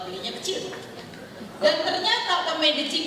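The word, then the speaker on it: Medellín: Dan ternyata ke Medellin, bacanya Medellin, itu butuh waktu hampir 40 jam.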